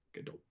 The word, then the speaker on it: Gadot: Gadot? I don't know how you say it. Yeah, you don't pronounce the T. Gadot.